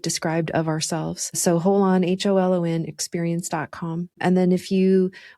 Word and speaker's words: Holon: It's spelled HOLON.